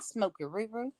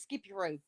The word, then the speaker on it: Smoky Roo: Hi, Smoky Roo. Oh, okay. I said it wrong. Yeah, I was saying. I thought it was Skippy Roo. No, it's Smoky Roo.